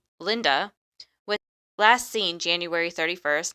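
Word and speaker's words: Lynda: on I keep on want to call call her uh Lydia because it's spelled l y n d a but it's Linda uh anyway Linda was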